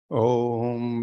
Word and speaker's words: ओम: एक छोटा सा कमेंट है, ओम का जब उच्चारण करते हैं तो यूजुअली लोग तीन हिस्सों में बांटते हैं उसको, आ उ और माँ। पर एक बहुत इम्पॉर्टेंट हिस्सा है उसका चौथा, जो कि शांति है, कामनेस है, क्वाइटनेस है। तो जैसे ही आप उच्चारण करते हैं तो आखिर में थोड़ी देर के लिए मौन, जितने 3 हिस्से पहले के हैं उतना हिस्सा एक मौन का भी रखना आवश्यक है।